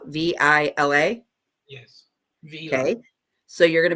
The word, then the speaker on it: Vila: So you're back there, and it's actually, is it Villa? Vila? Yes. Vila.